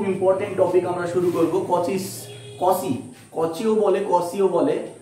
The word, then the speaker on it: Cauchy: topic আমরা শুরু করব কচিস কসি কচিও বলে কসিও বলে উচ্চারণটা এখন উচ্চারণটা কচি না কসি সেটা নিয়ে অনেকেরই মনে ইয়ে আছে তবে কসি বলাটাই আমার মনে হয় বেস্ট হবে অনেকেই কসি বলে তো